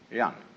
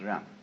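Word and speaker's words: 仁: In Confucius philosophy, the fundamental virtue of a human being is called Ren, spelled Jen for reasons best known to Chinese scholars. I don't know what they are, but it's pronounced Ren.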